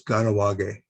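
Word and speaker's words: Kahnawake: you might know the the mohawk community uh which is hugely pronounced by my mohawk friends as ganawage and what that means is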